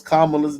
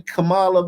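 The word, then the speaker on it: Kamala: women and gets away you can't even mispronounce kamla's name man I even I called her the right name cuz I'm scared to say it kamla man you say Camala man you in trouble man if you a white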